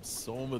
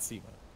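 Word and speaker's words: SumaiL: Is it Soma or was it Sema? It's not Sema. No. Because everyone used to make John Cena jokes. And then there was a big post about how that's not how you say it.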